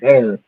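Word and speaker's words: Baer: B A E R like they ask they pronounce it bear.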